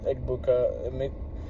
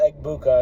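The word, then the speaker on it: Egbuka: right now it's just Eggbuka Eggma Mika Ebuka I think is how you pronounce it.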